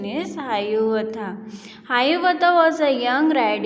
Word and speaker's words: Hiawatha: Its pronunciation is Hayuvatha.